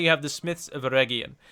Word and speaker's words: Eregion: And finally, you have the Smiths of Eregion. Note, it is a hard G. It's not Eregion, it's Eregion.